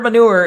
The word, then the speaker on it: manure: It is a 2-syllable word with the stress on the second syllable. So I'm saying it right. Okay. Duh. Open manure. Open the manure. Or I'm going to throw rocks to your window, you stupid manure. It's like mature with an N.